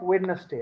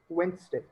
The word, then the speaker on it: Wednesday: Anyway, it's not Wednesday, eh? It's Wednesday.